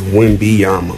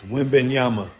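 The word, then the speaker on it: Wembanyama: player as well as I thought it was wimi Yama so wiim B on y Wim Yama yeah Yama so last phrase y nope it's wiim Yama Wim Bama whim B Y and Y wimy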